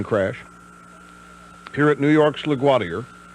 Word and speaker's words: LaGuardia: here at New York's LaGuardia, which is how they say it here, don't hold it again.